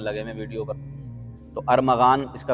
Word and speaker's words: ارمغان: ارمغان، پتہ نہیں سارے ارمغان لگے ہوئے ویڈیو پر۔ تو ارمغان، اس کا تلفظ صحیح سن لیں، اس کا تلفظ ارمغان نہیں ہے بلکہ ارمغان ہے۔ ارمغان یہ فارسی زبان کا لفظ ہے، لیکن بعض لوگ اس